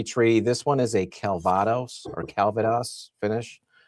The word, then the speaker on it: Calvados: I'm inclined to say Calvados, but I was watching Marty's stream the other night with Nancy Fraley, and she was saying Calvados. So I assume Nancy has the proper pronunciation. So we'll say Calvados.